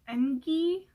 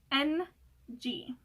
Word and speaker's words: NG: not, and I came up with the spelling of NG because that's how you pronounce it. It's just the letter NG, but I've had some people like pronounce it like Engi, or like, I don't know, they just don't know how to pronounce it for some reason, but it's NG.